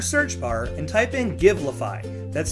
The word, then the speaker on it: Givelify: go to your search bar and type in give lafai that's spelled GI ve li FY you'll get results